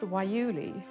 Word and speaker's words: guayule: plant produces domestic rubber it's pronounced wuli it may be the